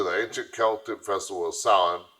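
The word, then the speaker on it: Samhain: ancient Celtic Festival of Sal pronounced s o w- i n Sal the Kelts who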